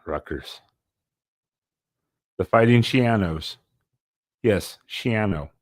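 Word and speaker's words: Schiano: the fighting shos yes shano it rhymes with piano I paid attention to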